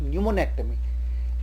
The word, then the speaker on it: pneumonectomy: Another example is pneumonectomy. The P is silent. We don't call it pneumonectomy, we call it pneumonectomy.